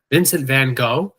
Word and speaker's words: Vincent van Gogh: we're saying his name, it's perfectly acceptable to pronounce it Vincent Van Go.